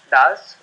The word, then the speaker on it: Daz: And like Daz Labs, as you rightly pronounced, is Daz, which means decentralized A to Z.